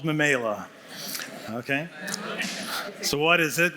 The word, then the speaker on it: Memaila: And it's called, you might be asking, how do you pronounce it? It's called Memela.